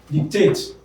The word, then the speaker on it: dictate: a very simple one where a verb of two syllables ends in ate the second syllable stretch it is the concealer that receives the prime stress dictate dictate be read frustrate